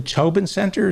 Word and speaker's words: Tobin Center: So what you're saying is the Tobin Center, is that how it's pronounced?